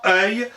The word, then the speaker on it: œil: Au 8e siècle, nos aïeux disent œil, et finalement œil au 12e. Notez qu'on prononce œil exactement comme le seuil de la porte.